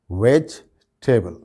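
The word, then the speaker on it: vegetable: तो इसमें भी जो है वो ये जो ई है इस पर स्ट्रेस नहीं दिया जाता। इसका सही प्रोनाउंसिएशन क्या है? वेजिटेबल, वेजिटेबल, वेजिटेबल, वेजिटेबल।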